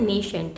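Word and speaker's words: nascent: इसे बोलते हैं नेसेंट। स्पेलिंग है NaS C एन टी नेशेंट hydrogen bracket में रहता है।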